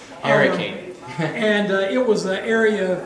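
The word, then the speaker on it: Harricane: But there was an area west of town that was known as the Hurricane, and that's spelled the way it's pronounced, with a hard H-A-R-R, Hurricane. Hurricane.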